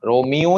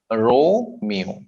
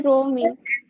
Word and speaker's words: Romeo: रोमियो नहीं बोलेंगे आप. रोमियो. पहले सिलेबल को थोड़ा सा लंबा खींचेंगे.